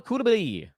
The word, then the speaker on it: Coulibaly: Fourth name on the list, Bilal Coulibaly. Worked very hard to make sure that we get that French pronunciation right.